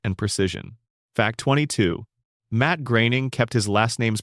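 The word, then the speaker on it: Groening: Matt Graing kept his last name's pronunciation deliberately ambiguous for years before eventually confirming it is pronounced gray ning, rhyming with raining.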